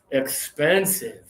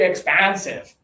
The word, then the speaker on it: expensive: trying to say this, they sometimes accidentally say this. So we say, oh, that car is very expansive. Like, that car is expansive?